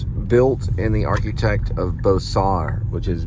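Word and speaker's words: Beaux-Arts: Fort Worth it's built in the architect of bosar with which is B Au u x arts and they pronounce it bosar and it was done by Wyatt C Hedrick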